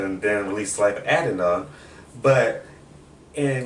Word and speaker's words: Adidon: first Life of Adderall, yeah, how do you pronounce it? What is it? He just said Life of Adonis. Right, that's the boy's name? Yeah. Oh. He said Adidon.